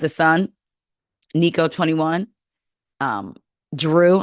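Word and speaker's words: Jrue: son Nico 21 um Drew I think eight it's spelled j r u e from a previous relationship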